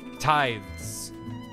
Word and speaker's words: tithe: lord of the house but isn't it pronounced teeds I think I made that mistake before tithes tight tithe it is tithe so I was right